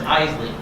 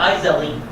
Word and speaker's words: Iseli: It's Iseli. Not Isel. Not Iseli. Iseli. 2 syllables.